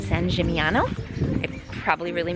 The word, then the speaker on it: San Gimignano: San Gimignano. San Gimignano.